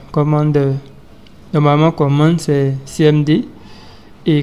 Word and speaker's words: Cmder: Il s'agit de Commander, mais ici Commander s'écrit CMDER, comme ça, Commander.